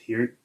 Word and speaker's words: Peart: I'm pretty sure it's pronounced Peart, but I've been saying Peart my whole life.